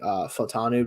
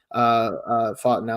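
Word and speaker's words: Fautanu: Like Barton could also be that, but I think Fatanu, I think is how you actually pronounce it.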